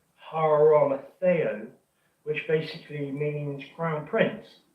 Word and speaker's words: Arimathea: And also the Arimathea part, within the Golden Age work, Christian O'Brien, Barbara Joy O'Brien, basically they say that Arimathea is actually a wrong pronunciation. It should be Haramatheo, which basically means crown prince.